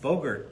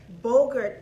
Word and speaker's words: Bogert: Bogert. Rhymes with yogurt. Bogert, the Ted Bogert Show.